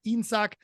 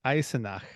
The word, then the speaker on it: Eisenach: car manufacturer VEB Automobilwerk Insak from 1956 to 1965. Did I say it right? Variations. I have no idea. VEB Automobilwerk Eisenach. There we go. There's an extra syllable in the middle there.